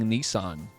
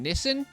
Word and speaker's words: Nissan: American saying Nissan versus an Australian saying Nissen. I drive a Nissen. Not the Nissan.